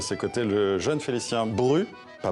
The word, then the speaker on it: Brut: Alors le grand accordéoniste Richard Galliano et à ses côtés le jeune Félicien Bru. Pas Brut, hein, ça s'écrit avec un T à la fin. On prononce pas le T.